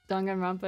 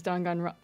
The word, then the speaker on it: Danganronpa: By the way, I learned at a library the correct way to say Danganronpa is Danganronpa.